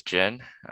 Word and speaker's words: Jin: My last name is Jin, which rhymes with the drink that you can only have when you're after 21.